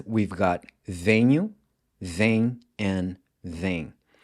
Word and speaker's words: vêm: In the present tense, we've got venho, vem, and vem. So both of these are pronounced the same way.